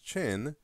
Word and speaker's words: Qin: and the Han and even though it's spelled with a Q it's pronounced chin and that is where